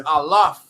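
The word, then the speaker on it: אלף: So it says Aleph. Yeah. It's Alaf.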